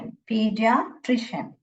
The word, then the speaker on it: pediatrician: पीडियाट्रिशियन ये CIAN जब भी आएगा, शियन, शियन पढ़ने का।